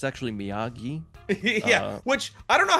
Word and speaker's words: Miyagi: Places the belt in it as he's like, "It's actually Miyagi."